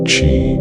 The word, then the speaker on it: qi: Puncturing the skin to balance qi, pronounced qi, believed to be life energy.